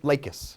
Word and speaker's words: Lakis: Lakis.